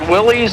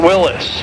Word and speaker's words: Willys: And you know you can pronounce it Willys or Willis.